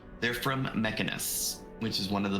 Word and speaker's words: Mechanus: Um they're from Mechanis plain clockwork probability and you also notice that um it is slightly arcane in nature. Okay. And so you have studied them before. They're from Mechanus, which is one of the planes.